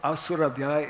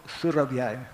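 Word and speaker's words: Surabhyai: It is not Om Asurabhyay, it is Om Surabhyay.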